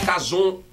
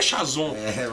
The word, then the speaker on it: Kazown: Cazon, sonho, se escreve com CH. Só que quando a gente ia pros eventos fazer, o povo chamava de Chazon. E não é Chazon.